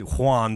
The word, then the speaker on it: Juan: with it he wanted he wanted Juan to rhyme with ruined and that involves getting